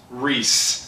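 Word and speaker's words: Rhys: Rise. Pronounced Reese.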